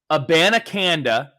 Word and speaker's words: Abanikanda: So it goes, Abanikanda, that's 5 syllables for a name.